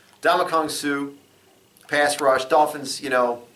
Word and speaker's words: Ndamukong Suh: See, I was trying to pronounce the end. The end's silent. Ndamukong Suh.